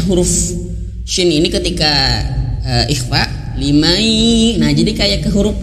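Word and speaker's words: لمن شاء: Nah, jangan sampai kita membaca ikhfa huruf shin kayak gini liman, tapi bacanya hanya sekedar dengung saja. Liman, liman. Nah ini keliru ya. Lebih tepatnya itu harus mendekati ke makhraj ya. Limai gitu ya.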